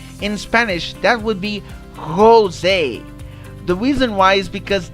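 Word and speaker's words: José: it because for example jose in my uh that's in my pronunciation the portuguese pronunciation why because we say the j we pronounce the j we do not pronounce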